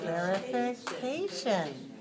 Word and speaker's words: clarification: we do is to clap the syllables of clarification right we can feel how many there are 1 2 3 4 five for clarification and another thing we do is rise on the stress syllable clarification now clarification is h